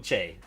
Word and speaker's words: Che: Che, you're Michael Che, yeah.